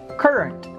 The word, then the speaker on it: current: Current. It's not current. It's current. K, almost like a letter E, current. Not current, current.